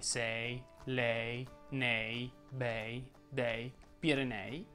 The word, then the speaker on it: Pirenei: Quando la E tonica è seguita da un'altra vocale richiede di essere pronunciata aperta.